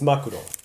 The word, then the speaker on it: 真っ黒: Okay, so 大きな潤いのある目で長いまつげに包まれた中はただ一面に真っ黒であった。I think it's 真っ黒, but let me double check the pronunciation. It's makuro.